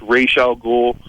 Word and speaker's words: Ra's al Ghul: In the movie they call it Raj Al Ghul. I've heard it pronounced Ra's al Ghul.